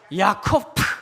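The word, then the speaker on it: יַעֲקֹב: 뜻입 이렇게 발음해야 됩니다 야곱은 뭘까요 야코프 이렇게 얘기를 해야 됩니다 씨름은 아바크 있니다 야복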